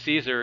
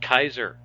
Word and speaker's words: Caesar: Julius Caesar was Julius Caesar in in the Romans would never pronounce his name like that the Romans would pronounce his name Julius Keizer and then it wasn't